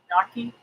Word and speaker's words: gnocchi: Oh, gnocchi is pronounced gnocchi.